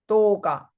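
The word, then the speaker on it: 十日: 8th day is yoga, 9inth day, 10th day is tooka.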